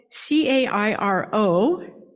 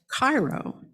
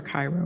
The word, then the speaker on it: Cairo: Now that was spelled C-A-I-R-O, like that great city in Egypt, Cairo. And I am convinced that those clannish people deliberately pronounced the name of that town Cairo so that any stranger would be immediately revealed right?